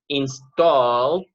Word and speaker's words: installed: If she had installed, la E de no suena, recuerden, an antivirus, virus, all right, on her laptop, she wouldn't have got a virus, all right?